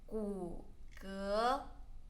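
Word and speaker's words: 骨骼: tone 关节 bones 骨骼骨骼骨骼骨 third tone 骼 second tone 骨骼 and then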